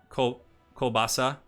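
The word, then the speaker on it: колбаса: Kolbasa? Kolbasa. Borscht. So it's just borscht. Okay. Kolbasa is more Russian. Polish people say kielbasa.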